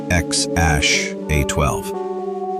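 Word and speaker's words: X Æ A-12: He later had twins and triplets with Justine, and several kids with Grimes and other partners, including the famously named Xash A12, pronounced Xash A12, and Exadaritol Musk.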